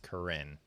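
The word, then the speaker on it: Korine: Harmony Corine. Who? Harmony Karin. What's that? I think I think his last name is pronounced Karen.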